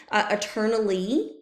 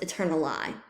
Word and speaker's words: eternally: would have been pronounced eternali. So this would be E, and that rhymes with die, which would also be E.